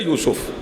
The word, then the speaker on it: یوسف: جناب یوسف کا حسن، یہ تلفظ ٹھیک ہے یوسف، جناب یوسف کا حسن ضرب المثل ہے، توجہ فرما رہے ہیں۔ اور یوسف کرتے کیا تھے؟